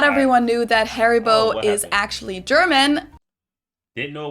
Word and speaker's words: Haribo: But Haribo or horrible? I want to go with one of those two. We pronounce it Haribo.